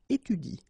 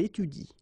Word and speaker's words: étudie: pronounce it like il étudie, okay? So the last thing that you will pronounce will be the vowel I here, okay? Il étudie.